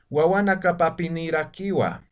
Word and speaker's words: Wawanakapapinirakiwa: Entonces, no es que se tiene que pronunciar así de forma separada, sino solamente aquí estamos demostrando de que es solamente una palabra raíz, y a partir de eso se han ido añadiendo otros sufijos. Entonces, esto se pronuncia como una palabra que sería Wawanakapapinirakiwa, ¿no?